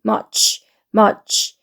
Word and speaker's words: much: 한 번 읽습니다 그다음에 much much chga 여기 t s 길게 적혀 있는이 발음은 치 발음이에요 그다음에 여기 있는 사각이라 우리가 부르는 건데 얘는 모양 삼각형 발음 어이기 때문에 어가 빨리 읽으면서 치로 넘어가면 됩니다 그래서 much much 이렇게 돼요 much은 무 소리죠 머 머 머 소리가 들어가면서 머머머 이렇게 되고요 얘는이 발음이에요 즈 즈